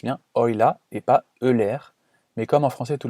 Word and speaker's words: Euler: Et oui, ça se prononce bien Euler et pas Euler, mais comme en français tout le monde dit méthode d'Euler, je vais garder cette prononciation pendant toute cette vidéo.